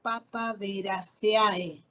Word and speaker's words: Papaveraceae: No digo Papaveraceae, Papaverace, ¿sí? Esta EAE se lee como E, ¿sí?